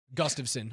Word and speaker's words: Gustafsson: isn't the name Gustav, right? The first name is Gustav. It is. And then Gustav son.